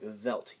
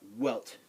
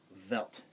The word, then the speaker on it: Welt: a w it's not welt it's velt W's in German are pronounced like V's in English so velt do I have any